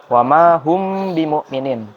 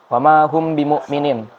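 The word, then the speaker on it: وما هم بمؤمنين: bertemu dengan ba bimu'minin, maka dibacanya bukan wama hum bimu'minin, tapi ditahan dulu dan didengungkan, dibunyikan secara samar-samar, wama hum bimu'minin, baru dilanjutkan.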